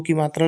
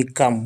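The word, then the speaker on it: come: एम एम से मा ई भी साइलेंट है सी ओ एम ई कम कम मतलब आना आगे देखिए एस ओ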